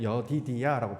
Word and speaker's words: 여디디야: 앞에 모음이 이렇게 붙죠 그럼 붙으면 뭐라고 발음하냐 여디디야라고 발음을 합니다 이것도 하나님께 사랑을 받는